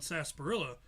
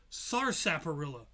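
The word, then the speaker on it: sarsaparilla: The really weird thing about Sasparilla is the fact that it's spel it's pronounced sasparilla and not sars sapperilla like it's spelled.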